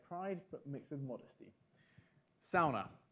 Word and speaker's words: sauna: but mixed with modesty Sona that's how they say it's ona sauna sauna right really hot it's